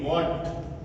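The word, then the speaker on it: what: वो कहां साइलेंट रहता डब्लू के तुरंत बाद अगर एच आता है यानी हमारे जो डब्ल्यू एच वाले शब्द होते हैं और कौन से शब्द होते हैं जिनसे हम क्वेश्चंस बनाते हैं तो ऐसे शब्दों में क्या है हमारा एच जो होता है वो साइलेंट रहता है जैसे आप देखिए डब्ल्यू डब्ल्यू एच ए टी व्हाट डब्ल्यू एच ई आर E where और इसी तरह से हुम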